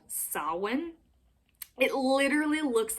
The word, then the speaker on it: Samhain: christian celtic times and they celebrated something called sawin it literally looks like it should be pronounced samhain but i promise you it is pronounced solid